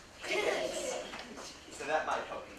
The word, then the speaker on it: Dickens: I'll remember it because it rhymes with chicken. Dickens.